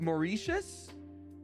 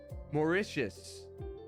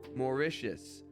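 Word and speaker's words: Mauritius: that I'm so sorry how is it pronounced let's see Wikipedia morius morius wow I'm so sorry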